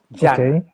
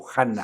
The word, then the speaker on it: Dhyana: en sánscrito con la palabra Dhyana, d h y d a n, Yana. Yana. Que también lo escriben escriben a veces la d h como j, ¿no? Yana o Jana, ¿sí? O Dhyana también se escribe Jana.